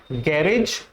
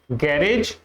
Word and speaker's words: garage: Actually both pronunciations आर correct. इसको आप गैरेज भी बोल सकते हो और आप इसको गैराज भी बोल सकते हो, both आर correct, both are fine, both are accepted, ठीक है।